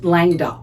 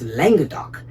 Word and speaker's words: Languedoc: I originally pronounced Langok. I kept going Langok and then I Googled it and it's Langodok.